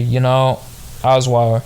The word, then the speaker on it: Osweiler: Deshaun Watson, Kyle Murray, Osweiler.